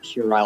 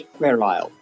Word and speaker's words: puerile: Puerile, sorry, not puerile. I've heard people say it wrong so much that I've started doing it, but it is puerile, Latin, childish.